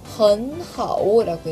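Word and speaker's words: 很好: 우리가 3성 3성이 만났어요. 3성 어떻게 읽어요? 흔이라고 읽잖아요. 그렇기 때문에 3성 3성이 만났을 때 앞에 있는 거는 이성으로 변합니다. 그래서 헌하오라고 읽어요.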